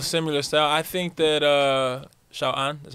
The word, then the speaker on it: 小安: I think that Xiao An, that's how you say his name?